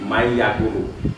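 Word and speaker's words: مَن يَقُولُ: Ketika kita membaca misalkan man yakulu, tulisannya man yakulu, dibacanya nanti may yakulu.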